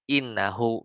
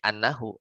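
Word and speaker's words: إنه: Ya, misalnya hadaralladzi innahu gitu. Jadi bukan bacanya hadaralladzi annahu gitu.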